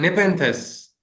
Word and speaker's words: Nepenthes: I'm not sure how it's pronounced. Nepenthes.